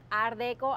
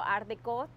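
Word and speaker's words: art déco: la arquitectura de un estilo ardeco ardecot cualquiera de las dos formas Está correcto pronunciarlo que se caracteriza por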